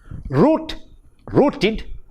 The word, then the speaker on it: rooted: First one, rooted, id.